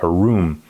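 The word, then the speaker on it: עָרוּם: a room or aram a rum with a long o a rom but satan was a room with a u a room humanity is viewed in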